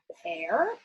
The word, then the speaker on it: pear: I know silent E makes the A say its name, so I'm going to circle it. But then, you know what? The word pear, it does not follow the rules.